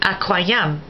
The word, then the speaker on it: aquarium: pronounced like a K, except when the word is a loan word, like aquarium, where Q is pronounced QW.